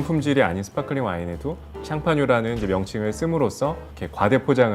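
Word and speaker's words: Champagne: 스파클링 와인 이라고 하면 워낙에 샴페인은 이제 그 프랑스 샹파뉴 에 이제 영어식 발음 이구요 4 보통 일반적으로 스파클링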